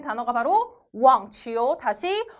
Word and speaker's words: 网: 해당 글자는 발음이 왕 자 소리내서 같이 발음 해야지 기억이 남겠죠 한번 더요 왕 한번 더요 왕 자